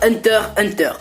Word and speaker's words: Hunter x Hunter: vous conseiller ou pas hunter hunter et non pas un hunter x hunter pages que le x ne bronche pas je suis désolé pour tous les rageux qui disait x ça se prononce pas enfin bref allez on